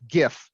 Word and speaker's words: GIF: GIFs are funny, and it is pronounced GIF.